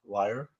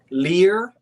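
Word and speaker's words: lyre: do you pronounce it I've never known it to be pronounced in any other way a liar Lear no it's not pronounced Lear no way Gail spranger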